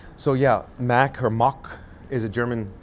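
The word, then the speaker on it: Mack: So yeah, Mac or Mock is a German provider, a vendor, they make, you know, theme park rides, uh, roller coasters, uh, flat rides, but Mock.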